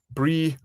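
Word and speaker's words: brí: on eil for yourself brie meaning hill br i with the accent on the i.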